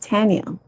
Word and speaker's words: Tanya: was like mommy like how is my name supposed to be pronounced? She's like it's supposed to be pronounced Tanya.